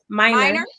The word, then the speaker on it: Miner: say your name again for everybody Min minor okay I said it right okay good I